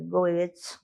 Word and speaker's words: Goethe: A gente, claro que é alemão, a gente está pronunciando nossa, né, em português, Goethe, né?